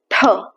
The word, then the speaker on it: ठ: ठ ठ। हम अपनी जुबान को पीछे ले जाएंगे। ऊपर टच करेंगे और फिर फोर्स के साथ बोलेंगे।